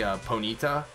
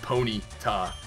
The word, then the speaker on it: Ponyta: ask me and I always used to say Ponyta but then I realized that it's Pony taw so like one thing I've learned that helps